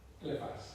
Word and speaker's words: Eliphaz: Eliphaz.